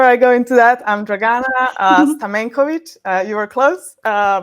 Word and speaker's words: Dragana Stamencovic: Uh, but yeah, before I go into that, I'm Draana Stamenovich.